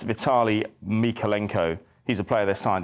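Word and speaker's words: Vitaliy Mykolenko: January Vitale um I can get his name pronounced correctly so that I don't let anybody down but it's uh yeah it's Vitali mikolenko he's a player that signed in January just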